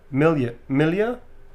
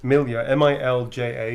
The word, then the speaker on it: Milja: Okay, this is for Milja, M-I-L-J-A, Milja, I believe that's how it's pronounced.